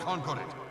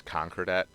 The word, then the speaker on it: Concordat: It also bugs me in the voiceover that they always say it is Concordat, not Concordat, because it sounds like conquered it, and it just bugs me.